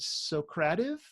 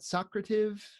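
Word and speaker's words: Socrative: some people call it so creative some people call it socrata v' that all depends on which syllable you put the emphasis that was an English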